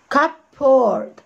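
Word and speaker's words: cupboard: هنبص كده cup poured cup ها cup cup p o r d cup poured cup poured وننطقها كلها ايه بسرعة كده بنخطف الكلمة تبقى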